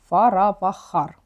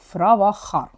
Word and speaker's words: Фаравахар: родове дерево це називається фаравахар або ж інколи ще читається як фравахар воно було колеподібним де